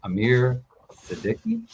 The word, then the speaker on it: Amir Siddiqui: I'm going to say his name is Amir Siddiqui.